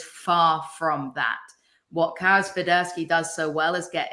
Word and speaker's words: Swiderski: Am I pronouncing it right? Yes. Swiderski, yes.